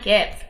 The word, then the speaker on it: give: week we learned that when there's a v sound at the end of a word then the there's always a silent e so live and give follow those rules okay so what you're